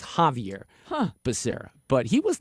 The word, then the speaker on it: Javier Becerra: pronounce Javier Becerra's name, because I've been saying it Xavier Becerra because it's spelled with an X. Oh. And then a lot of people say Javier. So I've heard it both ways. Well, we looked it up, and Wikipedia told us that the pronunciation is Javier Becerra.